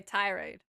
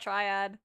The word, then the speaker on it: tirade: over pause Ty Ty okay tirade not Triad Ty okay unsurprisingly Lexi